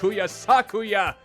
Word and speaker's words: Sakuya: Sorry, Sakuya. Sakuya. Not Sakuya. Sakuya. I gotta get those words intempered into my soul. My flabby, ponderous soul. Sakuya should be the correct pronunciation, unless I'm mistaken.